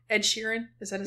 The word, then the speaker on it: Ed Sheeran: Ed Sheeran?